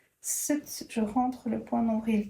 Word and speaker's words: Sat: point d'ombrile sur SAT, on va prononcer S U mais c'est en fait écrit SAT set.